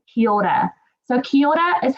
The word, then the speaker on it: kia ora: Kia ora, and it's kind of hard to say because you've got to roll your R's. But if you're like my mum, you can say kia ora, and that's still fine.